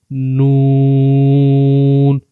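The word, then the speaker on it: ن: There are 3 words: Lam, Noon, and Ra. Try to pronounce them and say Lam, Lam, Noon, Noon, Ra, Ra.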